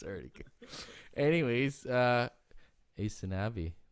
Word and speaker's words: Aysanabee: already good anyways uh asanavi thanks for joining us i'm not sure if i'm saying it right yeah actually actually you're you're you're one of the few people that do most people say yeah most people say asana bee yeah well i'm really